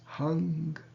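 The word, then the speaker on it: हं: And the bija mantra is Hung, H-A-M, with a diacritical mark, the Uchi, and it's pronounced Hung.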